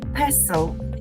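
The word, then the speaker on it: PESTEL: think it's called P pesel principle am I saying it correctly yes you are saying it correctly yeah it's got a t but it's not pronounced I think we just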